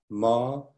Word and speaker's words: Maranatha: If you choose this word, which I would recommend, the word is Maranatha. Maranatha. Four syllables.